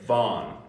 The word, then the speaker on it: Van: name is actually Vaughn so Von not not van it's Von Von and it's so if